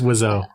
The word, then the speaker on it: Wiseau: It's Wiseau.